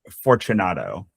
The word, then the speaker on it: Fortunato: How do you pronounce that? Fortunato.